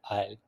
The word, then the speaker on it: aisle: So long narrow walkway and इट is pronounce N आयल।